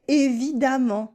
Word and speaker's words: évidemment: We also say évidemment with this a sound in the E of évidemment.